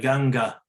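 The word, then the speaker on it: Gaṅgā: The female final vowel is double, like Ganga. There is a line over Ganga because it's feminine.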